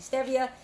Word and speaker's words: Stevia: Herbs and it's a green powder Stevia people pronounce Stevia it's actually Stevia it's a green leaf that's just very sweet